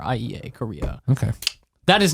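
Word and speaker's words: Corriea: middle Korea c o r r i EA Korea okay that is not even that's no I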